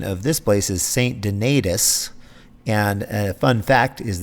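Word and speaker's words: St. Donatus: lutheran church also i later discovered that the pronunciation of this place is saint denitis and a fun fact is that everybody in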